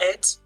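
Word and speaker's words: ætt: fully retail um oh boy how do you pronounce this word a-e-t-t you would know it yeah just eight okay uh he would say that he he's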